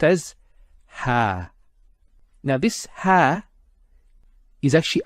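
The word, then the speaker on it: ها: And it's pronounced as ha.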